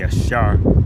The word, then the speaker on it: Asher: had given birth to Asher and in the Paleo Hebrew his name would be Ashar that means happy.